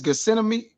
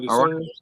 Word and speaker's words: Gethsemane: And the same thing Yahweh shall say it unto him in what is Gethsemane? I already said it wrong. Garden of Gethsemane.